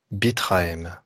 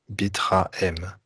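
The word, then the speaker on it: Bitrahem: Allez, toujours avec votre corps, je vous propose de ressentir la vibration du terme Bitraem. Bitraem. 3 syllabes. Bit, B-I-T. Ra, R-A. M, H-E-M.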